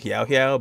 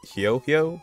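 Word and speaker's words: Huohuo: the giant tail, but I was saying Hiao Hiao, but it's more like Hio Hio. It's more like a yo in it.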